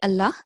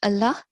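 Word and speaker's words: الله: So the lam mushaddad in the word Allah should only be pronounced with a thick and broad sound if it is preceded by the vowel mark of fatha or dhamma.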